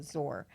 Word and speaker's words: Zor: know how to say it properly, but It's Z-U with a little chink R, and it's or, so Zor.